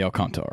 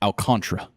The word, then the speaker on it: Alcantara: But Sandy Alcant, is it Alcantara or is it Alcantra? Alcantra. Okay, I'm almost positive it's Alcantara. See, I mean, pull a baseball reference, they have pronunciations.